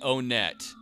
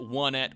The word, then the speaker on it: Onett: south for some reason I'm pronouncing it o net you can pronounce it one at or on it or whatever the hell you want to I've always called it o net I'm going to continue calling it o net don't like it mute